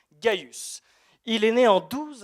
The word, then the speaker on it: Gaius: ça s'écrit avec un C mais ça se prononce gïus il est né en 12 après Jésus-Christ et